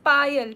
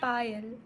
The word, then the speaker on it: Payal: my name is p can you pronounce it like pile P oh pile like a pile like oh I I